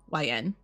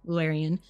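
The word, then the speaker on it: Llewellyn: Lularian is Welsh, but that's how you pronounce it. It's Lularian, Lularian, which is also the publishing house name.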